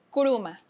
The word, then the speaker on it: Kourouma: por favor, dime si pronunció mal tu apellido. Coruma. Kuruma.